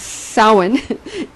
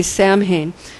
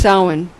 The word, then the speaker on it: Samhain: salmon that's cute I did it myself it's soin it's spelled SAMHSA and at some people say Samhain but it's pronounced salmon at sound to be practical there is an